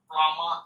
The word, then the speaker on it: plumber: মন থেকে উচ্চারণ করবো আমরা প্লামা, প্লামা, not plumber. A plumber has come to repair the pipeline. Pipeline repair করতে একজন প্লামার এসেছে, একজন কলের মিস্ত্রি, প্লামার।